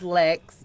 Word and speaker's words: Lex: I'm going to go with, my name is Lex, and it rhymes with sex.